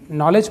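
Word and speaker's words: knowledge: हैं दोस्तों अगला नॉलेज इसे नॉलेज नहीं नॉलेज पढ़ेंगे जिसका मतलब होता है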